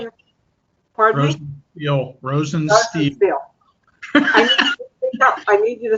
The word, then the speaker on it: Rosensteel: So my guest is, besides Sal, is Rosenthal. Am I pronouncing it? Pardon me? Rosensteel.